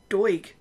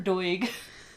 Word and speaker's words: Doig: listeners it's about Peter Doig we decided it's doig I don't know that that's do i oh gee you can